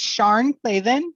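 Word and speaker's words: Sian Claven: time finding it um it's sharn clavin but it's spelled s-s-i-a-n clavin ah okay c-l-a-v-e-n or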